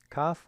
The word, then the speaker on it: Kaf: Kaf with a dagesh, dot, in the middle is like our K sound, K.